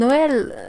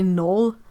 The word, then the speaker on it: Noël: And you don't pronounce the X because and Noël, and well, I think in English you would maybe say Noel, but since there's this 2 dot thingy on the E, it means it's a